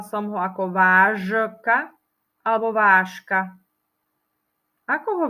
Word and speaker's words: vážka: vyslovila som ho ako vážka alebo vážka ako ho vyslovuje ty vyslovujeme ho ako vážka čiže píšeme ho zo ž ale čítame a vyslovujeme ho s š Ťažko sa mi to